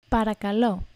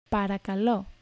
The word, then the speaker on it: παρακαλώ: Παρακαλώ. Παρακαλώ. Παρακαλώ.